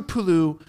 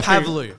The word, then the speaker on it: Pavlou: 300 said uh cypriot Drew Pulu Med That's Not My Name That's Not My Name okay I'm sorry pavu pavu two syllables no it's he said